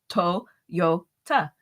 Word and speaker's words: Toyota: And I looked at a Toyota today, and I thought that is actually pronounced Toyota, isn't it? In Japanese, those are 3 syllables. You don't say toy. It's Toyota.